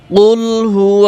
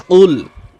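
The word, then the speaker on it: قُلْ: এখানে কিছু নিয়ম রয়েছে আমি সেগুলো বলছি কফ লাম পেশ কুল এবং বানান করব আমরা সকলেই বানান করে সূরাটা শিখবো বড় কফ দিয়ে অনেকে কিন্তু এখানে কাপ দিয়ে পড়ে কুল কুল বলা যাবে না কফ লাম পেশ কুল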